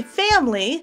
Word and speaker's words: family: You can leave in the schwa for three syllables, family. Or you can take it out and put the M and the L together to make a consonant cluster with two syllables, ml, ml, family.